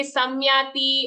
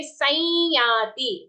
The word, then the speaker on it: संयाति: On sir, there is an anuswara. How do we pronounce that? We will not say samyati or sanyati. We will say sanyati. Okay, like how we say sanyama, sanyoga, sanyati. Gruhitvaitani sanyati.